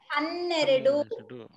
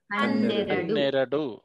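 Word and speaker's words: ಹನ್ನೆರಡು: Hanneredu. Okay. See how to pronounce. See ha ne ra then do. See? Hanneredu.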